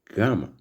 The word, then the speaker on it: gamma: And the next is gamma, which sounds like G in gone.